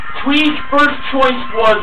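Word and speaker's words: Thuy: Finally, we had Twee, that's spelled T-H-U-Y, but pronounced differently compared to how it's spelled.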